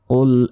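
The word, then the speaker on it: قُلْ: কুল আউযু, আমরা অনেকে বলি কুল আউযু বিরাব্বিন নাস, এটা কিন্তু ভুল, বলতে হবে কুল। কুল এখানে কফ আছে, মোটাভাবে উচ্চারণ হবে, কুল নয়, কুল।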